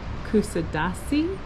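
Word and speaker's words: Kuşadası: for free and I think the way you pronounce this port is kusadasi which represents the island of the bird and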